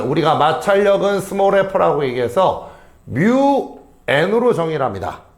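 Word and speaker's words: μ: 마찰력 구하는 공식은 우리가 마찰력은 스몰 f라고 얘기해서 뮤 n으로 정의를합니다. 어, 얘가 누구죠? 얘 뭐라고 읽었어요? 뮤라고 읽은 거야.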